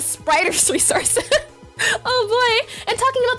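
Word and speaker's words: The Spriters Resource: It's not the sprite resource, it's the spriter's resource.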